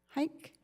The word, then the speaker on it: Hike: Hike? Pronounced hike, like a long walk.